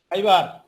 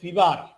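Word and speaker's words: Fiverr: করে এখান থেকে লিখলাম, সবাই খেয়াল করেন, FIBERR ফাইবার। এখান থেকে ফাইবারে আমরা ক্লিক করলাম, দেখেন বাংলায় উচ্চারণ দিচ্ছে ফিবার।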